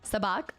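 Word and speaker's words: Sabacc: Sabak. Also, you pronounced it right. Sabach.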